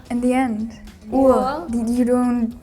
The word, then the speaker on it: Uhr: Uhr. You don't pronounce the R too hard Okay. there. R is like half silent.